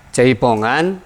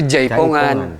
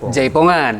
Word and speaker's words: jaipongan: yang saya tahu ya jaipongan sebetulnya pengucapannya itu yang tepat itu jaipongan jaipong jaipongan bukan jaipong eh tercatat dalam pengetahuan